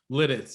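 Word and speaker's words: Lititz: And how do we pronounce this? Lidditz? Lidditz.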